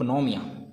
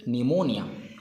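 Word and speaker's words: pneumonia: in spelling of न्यूमोनिया hair P is silent okay not saying नोमिया pronounce it निमोनिया निमोनिया what is the patholab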